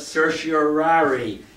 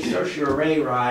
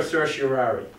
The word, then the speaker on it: certiorari: it one two three some people say social array and I studied Latin I don't think that's right anyhow a